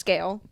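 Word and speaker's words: Sgaeyl: Her name is spelled S G A E Y L. Pronounced scale.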